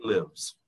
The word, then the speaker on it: lives: He lives. He lives. Con S al final. Y la S al final se pronuncia como la Z.